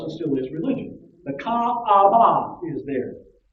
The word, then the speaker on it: Kaaba: The Kaaba, or most English people just say Kaaba, but it's Kaaba. There's 3 syllables.